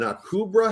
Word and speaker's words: Akubra: and i could but i couldn't get the pronunciation an akubra hat i think is how it's pronounced so